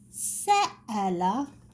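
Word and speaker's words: سأل: Sa'ala. Let me write the brown, it's more clear. Sa'a, la.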